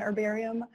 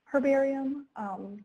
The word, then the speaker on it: herbarium: introduction to what an herbarium is in the u.s. we say it like like we would cooking herbs so that's why it's an herbarium but in places where